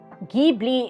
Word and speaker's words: Ghibli: It's probably just Gibli. Why do I have to click on a YouTube video? Can't you just tell me? Gibli is correct for Italian.